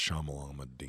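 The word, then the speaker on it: Shyamalan: by our dude imight shamalan shamalan um it's pronounced shamalan he only directed like two episodes of the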